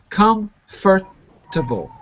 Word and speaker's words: comfortable: comfortable like this comfortable it looks like four but it's actually three syllables comfortable comfortable that's it mag